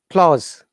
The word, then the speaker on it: clause: The subject commonly, clause, S. The S sound should be Z, clause.